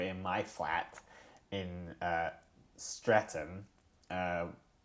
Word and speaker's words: Streatham: We're in my flat in uh Streatham uh which has a ham at the end, although you don't really pronounce the easily mispronounced as Stretham.